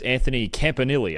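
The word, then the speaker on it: Anthony Campanile: It's Anthony Campanili. I've been saying it wrong before that, but I watched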